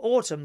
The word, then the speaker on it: autumn: on the subject of autumn the N is silent as the T in Harlow harlot is the T silent